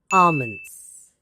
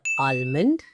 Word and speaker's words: almond: One of the topmost recommendations for great hair, great skin, even great health is almonds. Yes, it's not almond, okay, or almond. These are the two incorrect pronunciations I've heard of this word.